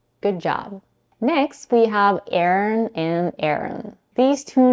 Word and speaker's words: Aaron: agree on is that both names are pronounced with two syllables with a stress on the first one the second syllable isn't